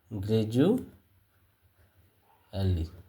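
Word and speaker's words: gradually: vowel এপাশে vowel এ কারণে এই ডি এর উচ্চারণ ড না হয়ে কি হয়ে যাবে জ হয়ে যাবে যেমন গ্রেজু এলি ঠিক আছে তো এমন ভিডিও পেতে আমাদের এই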